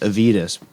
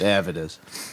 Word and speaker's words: Avedis: world um avidus zilan who I had always pronounced aidus but through my research I've discovered pronounced Avid is uh he was a